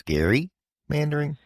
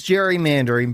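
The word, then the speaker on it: gerrymandering: him to the concept of Jerry or in this instance Gary mandering so it is Jerry mandering but we'll we'll talk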